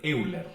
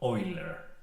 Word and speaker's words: Euler: El número que os queremos presentar es el número de Euler, o más bien pronunciado Euler, también conocido como el número E, y es uno de los números más importantes en matemáticas.